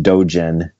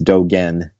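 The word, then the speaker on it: Dōgen: Okay, there was a guy named Dogen who lived 800 years ago, often mispronounced Dogen, but it's Dogen, who lived 800 years ago in Japan.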